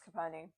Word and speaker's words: Coperni: So like my natural starting point is, I think this is how you say it, Coperni. Yes, Coperni.